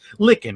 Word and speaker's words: Lykken: my mispronouncing your name it's licken right it is yep finger-lickin chicken like it takes a